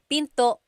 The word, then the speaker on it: pinto: Tagalog is p and remember don't forget the glot stop don't forget to stop the sound at the end that's called a gladle stop Pinto Pinto it's not Pinto